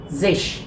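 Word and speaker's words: sechzig: And then next is zesh. आपको ध्यान देना होगा यहाँ पे अगेन कि जेक्स की जो स्पेलिंग है उसमें से एस को ड्रॉप कर देते हैं.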